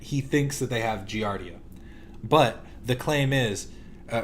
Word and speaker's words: Giardia: So the claim is is that they did contract giarda. Giardia. Sorry, he said it wrong so it threw me off.